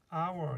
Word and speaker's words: hour: 소리 안 나는 H는 대표적으로 hour 이런 게 있죠. 이거 소리 안 나고요. 그래서 O-U-R만 있는 거예요.